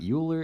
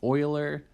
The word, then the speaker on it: Euler: circuits uh everyone always gets the name uh pronounced wrong here this is not Euler it's Euler um it's yeah just common common thing people mess up Euler okay uh airports suppose that we wanted to